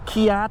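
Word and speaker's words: CEAT: not incorrect so uh seat tires or kiat i've even heard them pronounced i just say seat here in america we've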